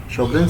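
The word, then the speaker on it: Sjögren: अब हम स्टार्ट करने लगे शोगरेन सिंड्रोम। इसमें जे साइलेंट से पढ़ते हैं शोगरेन सिंड्रोम या फिर सिक्का सिंड्रोम।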